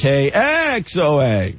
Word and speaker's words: KXOA: Say it right. Well, that's how they want us to say it. Accent the X. KXOA.